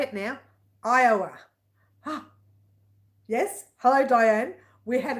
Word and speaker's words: Iowa: Iowa. Yes, hello, Diane. We had a discussion last week. I could not say Iowa. I was saying Iowa, but it's Iowa.